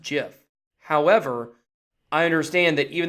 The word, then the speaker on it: GIF: everybody pretty much says gift but you know technically it's a jiff oh I'm a good guy well court see I know that technically it is pronounced jiff however I understand that